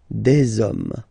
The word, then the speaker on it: hommes: You don't pronounce it, so you get des hommes, des hommes, des hommes, okay?